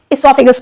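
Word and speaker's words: oesophagus: pipe है इसको हम इसोफागस बोलते हैं अच्छी लैंग्वेज में ओ साइलेंट होता है इसमें ठीक है तो उसको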